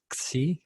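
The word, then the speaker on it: ξ: to pronounce that is C because it's the Greek letter it sounds like ksi but a hard K some people pronounce it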